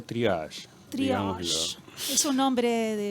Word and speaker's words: triage: Exacto, sí, se pronuncia triage. Triage. ¿Es un nombre de origen francés? Es una palabra en francés, fue creada en la Guerra Mundial, en la primera.